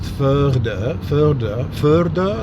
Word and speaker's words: føde: as being Danish, because in Danish it's pronounced FØDE, like a soft R, FØDE.